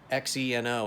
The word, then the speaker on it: Xeno: X-E-N-O is pronounced Xeno, currency, check, 17 letters.